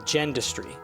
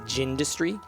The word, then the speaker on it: Gendustry: Gendustry. Uh, or I think some people pronounce it Gindustry, but Gendustry.